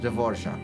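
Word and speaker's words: Dvořák: me check the Dvorak how do you pronounce his name do Forge I know is there like Antonin Dvorak Antonin devorzak okay let me practice that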